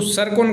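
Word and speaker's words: Tsirkon: Next है TSRI-KON, यानी इसको सरकोन कहते हैं, टी यहाँ पर साइलेंट है।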